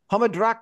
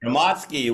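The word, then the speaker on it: Hromadske: And it's on, how do I pronounce this? Hamadrak Radio in Kyiv, is that correct? Hamadsky, which is public radio.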